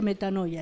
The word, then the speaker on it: metanoia: Se se pronuncia metanoia esta, aunque se escribe metanoeo.